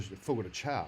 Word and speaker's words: Fogo de Chão: But that's not how you pronounce it. I know Fogo de Fogo de Chão.